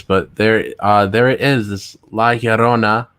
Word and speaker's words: La Llorona: This La Llorona, right?